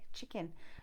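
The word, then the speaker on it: Chikan: on here is called chicken work. Okay, chicken, yes, as in the clucking chicken, and I think so, but it's spelled different with a couple of K's in there.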